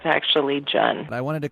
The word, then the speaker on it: Cheon: It's spelled Cheon, but it's actually pronounced Jun, like Jun.